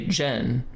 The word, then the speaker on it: Zen: In contrast with the English pronunciation of Zen, some Japanese speakers say jen, which is closer to the Chinese chon.